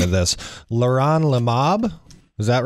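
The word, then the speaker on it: leronlimab: a drug and I'm probably gonna Massacre the pronunciation of this Leron Lomov is that right you said it right yeah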